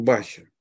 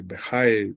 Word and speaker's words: Бахья: Еще один момент, который я хотел отметить, это дело в том, что его называют Рабейну Бахи, или Бехай, по-разному произносится его имя.